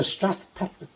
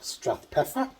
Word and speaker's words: Strathpeffer: Welcome to Strathpeffer.